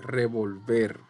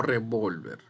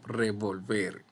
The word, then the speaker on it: revolver: decir revolver o revolver en este caso es revolver no revolver sino revolver ver es la sílaba tónica y también es aguda 13 muy fácil la